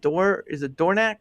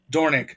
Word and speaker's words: Dornick: Because again, I know you with I think is it Dornack, or how do you say it? Dornick? Dornick, Jeff Dornick. Dornick, that's right, Jeff Dornick, who's sort of the creator of Pickaxe.